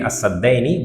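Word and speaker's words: السدين: You read it as-saddaini, but you write it al-saddaini, right?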